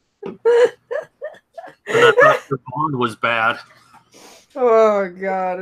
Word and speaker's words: Siobhan: I thought Siobhan was bad. Oh god, it's so Siobhan doesn't have a V or an F in it, but it has a BH.